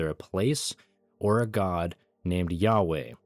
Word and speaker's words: Yahweh: Tetragrammaton, spelled as Y H W H and pronounced Yahweh.